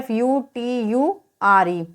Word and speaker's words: future: टी के बाद में URE आ रहा है तो हम क्या पढ़ते हैं? टी का उच्चारण च पढ़ेंगे। इसी पढ़ते हैं FUTURE, तो यहाँ पर इसे क्या पढ़ेंगे? फ्यूचर।